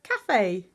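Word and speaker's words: café: into a cafe to see how cafe has got that a cute little accent French accent on the e turning it from cave to Cafe because it's a word that we got from French okay here they all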